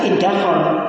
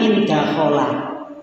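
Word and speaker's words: انْدَخَلَ: Ini kalau kita membaca secara harfiah tidak boleh dibaca indakhol, bacanya indakhola, gitu ya.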